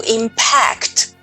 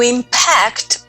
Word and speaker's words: impact: verb as well only the pronunciation is different we say to impact to impact means to have an